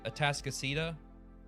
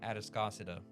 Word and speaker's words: Atascocita: And I know the actual pronunciation of the town is Atascocita, but I like calling it Atascocita just to be annoying.